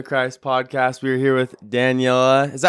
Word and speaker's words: Daniela: We're here with Daniela. Is that how you say your name, Daniela?